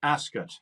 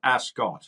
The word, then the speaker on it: Ascot: pleasure and look forward to seeing you at Ascot and that's how you pronounce it not Ascot okay as as it's like ro royal aset